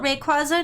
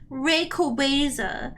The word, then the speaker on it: Rayquaza: The movie taught me that I was saying it wrong the whole time. Rayquaza.